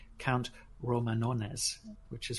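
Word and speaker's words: Romanones: a guy called count Roman honest which is very hard to pronounce the English its Roman and then once basically if you want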